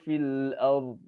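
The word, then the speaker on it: في الأرض: Nah, jadi ro-nya tetap tebal dan bo-nya juga tetap tebal. Jangan kemudian fil ar itu lepas, bo-nya hilang. Nah, itu ada beberapa orang, mungkin bahkan kemudian bisa dibilang kebanyakan orang membacanya salah ketika membaca kalimat-kalimat yang seperti itu.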